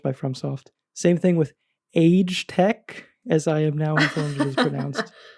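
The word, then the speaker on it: Agetec: Same thing with Age Tech, as I am now informed it is pronounced.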